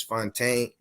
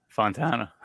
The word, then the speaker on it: Fontana: successful underdogs and today I have Mr Fontaine is that how you say it Fontana Montana I'm sorry I missed it I don't